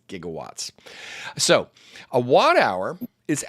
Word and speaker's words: gigawatts: He called it gigawatts, but he mispronounced it. Did you know that Doc Brown mispronounced it? It's gigawatts.